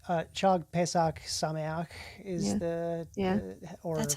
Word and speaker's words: Chag Pesach Sameach: But I will say You gotta get more chus in there. Chag? I don't think Chag. It's Shag Pesach. Sameach. Yeah. Yeah. Cha. Yep. You got a cha.